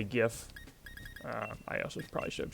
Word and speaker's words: GIF: that the Cur actually the correct way to pronounce that is gif um but I I will usually say gif I also probably should